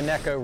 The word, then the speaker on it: Neko: it is definitely the necco rig it is not the nico rig it is fun to say the nico rig and that's okay if you want to still say it like that it doesn't matter but